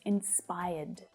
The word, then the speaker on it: inspired: And in the past, it's inspired. Now that final D is a soft D sound. So when it's spoken, you hardly hear it.